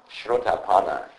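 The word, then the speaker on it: Srotāpanna: word for that, and Buddha used the word shrotapana. This is a very important word. I will explain to you what the word means. Shrotapana.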